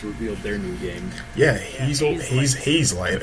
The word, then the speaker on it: Hazelight: Yeah, Hazelight. I was like, is it Hazelight or Hazellight? No one say it's Hazelite. Hazelite.